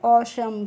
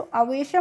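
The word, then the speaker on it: awesome: ओशम। क्या पढ़ते हैं? इसको अवेशम नहीं पढ़ते हैं।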